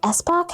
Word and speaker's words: Espach: Epoch Espach, I think is how you pronounce her last name.